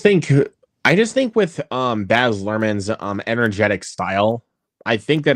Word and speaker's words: Baz Luhrmann: Baz Luhrmann.